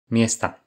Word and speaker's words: miesta: Ville donne Mesta au pluriel avec un A long, mais Miesto. Endroit donne Miesta avec un A court, parce qu'il y a une diphtongue dans la syllabe précédente.